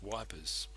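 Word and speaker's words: Ypres: on the outskirts of the town of Eep pronounced by many Allied troops as wipers it is estimated that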